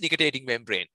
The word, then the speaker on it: nictitating membrane: I have no clue if I can pronounce this correctly, but nictitating membrane? Actually, you pronounce it right. It is nictitating membrane.